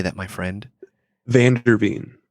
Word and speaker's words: VanderVeen: VanderVeen. VanderVeen. I keep wanting to say Vanderbeek, and that's just programmed into me through Hollywood.